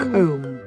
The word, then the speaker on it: comb: Wrong pronunciations. It's so a comb. Funny. Comb. You got it? Comb. It's comb.